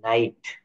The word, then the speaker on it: night: Rule 12, NIGHT, নাইট। SIGHT, site. MIGHT, মাইট। তো এখানে কি বলছে? IGH এর উচ্চারণে জি উচ্চারিত হবে না, IGH এর উচ্চারণে জি উচ্চারিত হবে না, সেই অংশটুকু উচ্চারণ হবে আই।